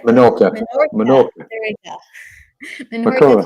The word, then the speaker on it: Menorca: Menorca.